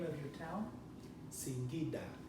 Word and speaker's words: Singida: Singida. How do you spell that?